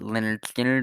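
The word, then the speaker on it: Lynyrd Skynyrd: It's pronounced Leonard Skinner by Leonard Skinner.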